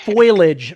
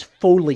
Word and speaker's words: foliage: Foliage versus foliage.